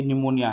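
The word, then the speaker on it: pneumonia: होता है आपका रसीद पी साइलेंट होता है जब वो एन से पहले आए अगर कभी भी एन से पहले पी का यूज हो रहा है तो वो पी साइलेंट रहता है जैसे कि निमोनिया है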